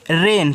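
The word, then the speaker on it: rain: यहां पे लिखा है आर ए आई एन तो इसको पढ़ते हैं बच्चों रेन क्या पढ़ते हैं रेन पढ़ते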